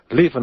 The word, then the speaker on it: Lieven: how to spell his name it's d-o-m-i-n-i-c dominic levin is spelt l-i-e-v-e-n it's dominic levin the book empire